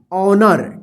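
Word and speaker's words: honour: सावर देखिए एच ओ एन ओ यू आर ऑनर क्या पढ़ेंगे इसको ऑनर देखिए आ उच्चारण नहीं होगा ए वाला वर्ड नहीं आएगा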